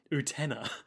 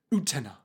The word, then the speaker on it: Utena: Of, the protagonist and title of this show, Revolutionary Girl Utena. Utena. Utena? Utena.